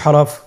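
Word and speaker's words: حا: হা এর মধ্যে কোন নুক্তা আমরা দেখতে পাচ্ছি না। হা হরফটি কিভাবে উচ্চারিত হবে? হা হরফটি উচ্চারিত হবে কন্ঠনালীর মধ্যখান হতে। গলা চিপে ধরে আপনি উচ্চারণ করুন।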